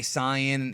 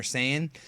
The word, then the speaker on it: Saiyan: just understand that um if you hear somebody say Sayan including myself because I I tend to switch back and forth between Sayan or sayian if you tend to hear somebody say Canan they're not saying it wrong it was just an old mistake from the 90s that was never fixed speaking of pronunciations a